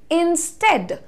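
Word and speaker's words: instead: बोलो बोलो साथ में इट इज इंस्टेड लाइट ए का साउंड देना है आपको हिंदी में जो आप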